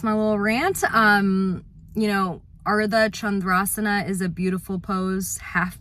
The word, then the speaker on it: Ardha Chandrasana: You know, Ardha Chandrasana is a beautiful pose, half moon pose. And Chandra, you know, Ardha, like make sure you pronounce the D's and the H's and the R's.